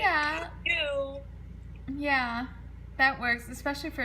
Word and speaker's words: Caillou: Caillou.